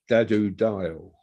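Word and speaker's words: Dadu Dayal: uh back to sense is a man called Dadu dial d-a-d-u d-a-y-a-l um uh what's the name again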